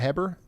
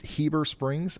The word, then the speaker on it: Heber Springs: It's not Heber, it's Heber Springs.